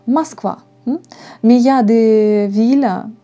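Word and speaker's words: Москва: prononcé avec a donc par exemple mons quoi on écrit avec oh mais on ne prononce comme à mas quoi mais il ya des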